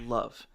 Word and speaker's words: LOVE: they can get their hands on increasing their level as they go. Um, actually it's not pronounced level, it's pronounced love.